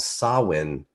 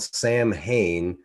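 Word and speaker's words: Samhain: talk about something called sawin so it's it looks like it's spelled Sam Hayne but it's pronounced sawin and this was a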